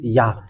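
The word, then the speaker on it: יה: And the way to read this Yod and Hey is Yah.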